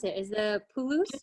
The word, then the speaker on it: Pulusu: Oh, and you mentioned that with the tomato stew, how do you pronounce it? Is the pulus? Pulusu.